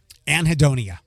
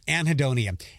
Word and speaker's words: anhedonia: might have heard me say it here before anhedonia and I'm I'm over pronounciating that anhedonia a n he e d o n i